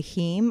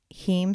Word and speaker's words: heme: iron so there's the heme iron which is from meat or animal sources and then the non-heme iron which is from plant sources right and that's spelled h-e-m-e-h-e-m-e that's right steam right okay yeah and